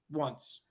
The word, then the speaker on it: once: Once Yes. sounds a lot like want, and it also sounds like ganhar, won.